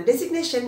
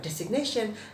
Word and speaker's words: designation: Nah jadi, tapi saya sering dengar orang bacanya designation. Nah itu salah teman-teman ya, designation artinya penunjukan.